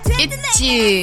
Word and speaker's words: ITZY: Itchy. Itzy. I think it's Itzy. Itzy. Itzy, right? Well, in Korean, they don't have Z in Korean. It's just J. So they say it like itchy to mean like they have it.